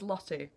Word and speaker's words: Lottie: And I was like, I always have this, because my name's Lottie, and Americans don't pronounce the T's.